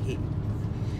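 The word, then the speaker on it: Huế: nakuha Ay going to Ano babasahin h parang who kung sa English pero sa kanila they will pronounce it as he So yun na nga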